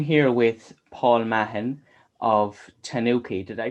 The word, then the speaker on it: TANOKI: so hello i'm here with paul mahan of tanuki did i pronounce that right yeah it's an oaky okay